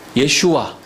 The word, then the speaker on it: 예슈아: 예슈와. 우리는 예수 이렇게 발음하는데 원래 발음은 예슈와.